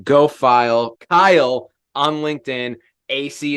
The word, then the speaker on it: Asay: AC is spelled ASAY.